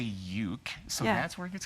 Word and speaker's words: uke: You say it ook. No, you would say uke.